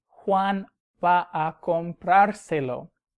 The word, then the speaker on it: comprárselo: y Juan va a comprárselo. Notice I have to add an accent on the vowel before the R, though, to keep the emphasis.